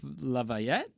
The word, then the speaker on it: LaVette: Yeah, that's what how that pronounced. Uh, Patterson Hood and John Morland. Uh, Betty Laf Lavette.